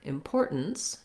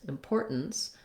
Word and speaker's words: importance: with that t sound we have the same pattern in the word importance importance um it's just different because it has second syllable stress so the poor syllable is long and then again we have that stop t so i'm going to be short on my first syllable with with the lacks is sound import importance i do